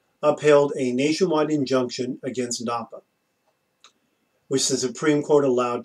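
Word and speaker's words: DAPA: is which is why they called it tapa also because it rhymes with Dakin it's easy to remember I guess that way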